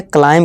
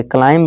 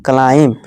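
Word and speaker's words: climb: इस तरह से क्लाइम कहेंगे, क्लाइंब नहीं क्लाइम। इस तरह डाउट, थम, थम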